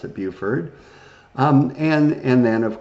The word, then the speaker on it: Beaufort: what would be modern day south carolina and buford it usually looks like beaufort but they pronounce it beauford um and and then of course this doesn't